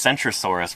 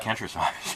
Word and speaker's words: Centrosaurus: You wouldn't want to pronounce Centrosaurus with a hard C. And you'd get Kentrosaurus.